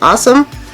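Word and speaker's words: Ausome: We've got the Morphe M431 tiny little pencil brush, and today I'm going to use, it says A-U-S-O-M-E, so I assume you pronounce it awesome, but it's not spelled the same.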